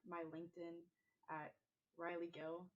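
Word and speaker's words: Rylee Gill: Personally, you can find like my LinkedIn at Riley Gill, but it's spelled weird, like RYLEEGILL.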